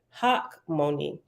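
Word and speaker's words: Hachmoni: to say it again they should just put a K money means wise and it's pronounced mon me in Hebrew in English we typically pronounce it Hawk Moni all right I'll go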